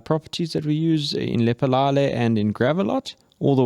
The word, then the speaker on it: Lephalale: Lephalale. Yeah. That's how you pronounce it.